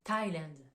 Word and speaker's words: Thailand: vous donne pour le pays Thaïlande ça se prononce en anglais Thailand donc ça c'est la partie exception où on